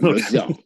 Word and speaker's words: Lausanne: Let me see if I pronounce it right. It's Lausanne, right? Yeah, Swedish. Lausanne. No, it's Lausanne.